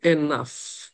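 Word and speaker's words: enough: আমরা উচ্চারণ করি এনাফ। এন তো এন থাকে। ও ইউজি কে আমরা উচ্চারণ করি আফ।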